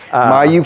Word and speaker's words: Mayeux: Yep, Mayeux from the Bayou.